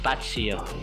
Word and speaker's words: Fazzio: Yan yung tamang pronunciation, mali yung sinabi ko nung una na Patsyo, no, mali pala yun, no? So Patsyo, ito yung spelling, no? Tsaka pagkakapronounce, Patsyo.